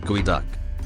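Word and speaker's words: geoduck: what is a good duck first off it's pronounced gooey duck contrary to what one might think it's not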